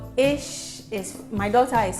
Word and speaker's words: Eeish: made it ish and the ish is spelled e e i s it's like ish you know like ah